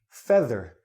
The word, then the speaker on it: feather: spellings don't mean anything this EA and this EA don't sound the same if you look at the dictionary you will find out that this word is pronounced feather this EA sounds like this this EA sounds